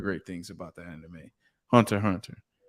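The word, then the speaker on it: Hunter × Hunter: Hunter x Hunter. The X is silent.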